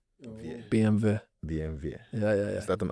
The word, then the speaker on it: BMW: BMW. BMW. Yeah. Is that an Irish thing? No, it's the German, because they pronounce their W's like V's.